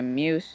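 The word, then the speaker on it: Meuse: does I don't see that given here okay Muse Muse just like in person the last 30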